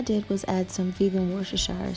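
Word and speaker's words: Worcestershire: was add some feeling worse a shire sauce I believe is how you say it and voila alright guys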